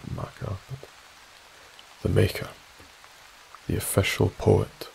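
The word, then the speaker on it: Makar: Les lockhead who was born in 1947 was the Makkah and that is per pronunciation the maker it's it's phonetically spelled marker the maker the official poet of Scotland basically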